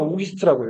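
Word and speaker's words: Auguste: 오기스트라고도 프랑스로는 오기스트라고 읽어요. 필립 오기스트.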